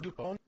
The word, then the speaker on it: DuPont: makes the model airplane blue a it is pronounced dupont it is named after helios uh thanks for